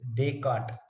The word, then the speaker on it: Descartes: But the pronunciation is, I know it's Descartes.